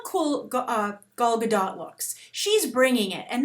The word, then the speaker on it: Gal Gadot: Guys, what catches your eye right away as you see Gal Gadot? Yes, that's the correct pronunciation of her name.